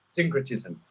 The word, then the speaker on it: syncretism: Please pronounce it for me. C-Y-N? Syncretism.